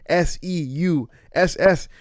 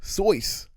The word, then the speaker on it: Seuss: So he's not even a doctor, and Seuss isn't even his last name, and Seuss isn't even how you pronounce Seuss. It's actually supposed to be pronounced Seuss.